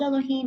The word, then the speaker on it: Elohim: So, okay, so it's Elohim, spelled Elohim, and it's pronounced Elohim.